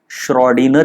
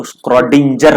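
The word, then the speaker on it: Schrödinger: तो quantum mechanical model इसका सबसे फाउंडेशनल इक्वेशन है श्रोडिनर इक्वेशन। कुछ लोग इसको क्रोडिजर बोलते हैं। लेकिन इसका है श्र डी नर। ये ये जो है ना ये कौन भाई? जी साइलेंट है।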